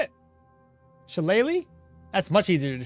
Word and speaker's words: shillelagh: Shillelagh? That's much easier to say. Shillelagh. Ah. Shillelagh. Okay. Yeah. Shillelagh. Looks like laugh, but okay.